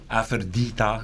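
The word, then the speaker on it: Afërdita: Aphrodita is how it's pronounced in Albanian.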